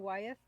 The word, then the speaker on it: Waith: So does anybody know how it's properly pronounced? It's Eden Wyeth.